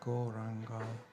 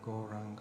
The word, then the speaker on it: Gauranga: We are now going to add the mantra Gauranga to our practice, turning that into a full meditation practice. The mantra Gauranga has 4 syllables: Go, Ra, An, Ka.